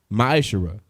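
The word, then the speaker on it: ma'aser: and malachi 3 8-10 means 10th in the hebrew and is pronounced maisha 10 percent of every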